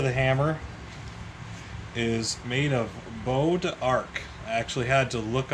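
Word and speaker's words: bois d'arc: the head of the hammer is made of bow to arc i actually had to look up the pronunciation of that because i would have never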